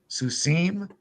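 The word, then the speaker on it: סוסים: suus Susa suim Su Hebrew prefers its Accent on the last syllable suim the susat time is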